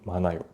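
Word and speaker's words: 많아요: Anayo, comme avec manta qui devient manayo.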